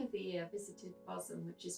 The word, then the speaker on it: Bosham: the beginning of the year, I visited Bosham, which is spelled B-O-S-H-A-M, Bosham, but it's pronounced Bosham.